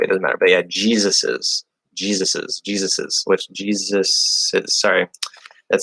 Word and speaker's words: Jesus's: So we would pronounce it like something kind of like this. It'd be like Jesus, and then donkey. I won't do donkey phonetically, it doesn't matter. But yeah, Jesus's, which Jesus is, sorry.